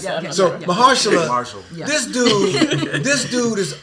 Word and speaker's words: Mahershala Ali: Marshall, I can't say his name. I don't Ali, Mahershala. or- Mahershala Ali.